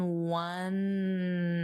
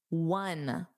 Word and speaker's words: one: Blurry in one eye. Now remember, this looks like a vowel, but what's the pronunciation? One. It's a W. It's the same as we won the game, which is spelled W-O-N.